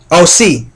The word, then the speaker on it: Ose: OC. OC is a great president of hell who governs 30 legions. OC is spelled O-S-E.